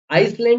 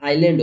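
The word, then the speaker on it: island: for example के लिए जैसे आईलैंड आइसलैंड नहीं होता है ये आईलैंड होता है आईलैंड ओ आईलैंड ओके आईलैंड आइसलैंड बोलते हैं बहुत सारे लोग जैसे आप देखो एल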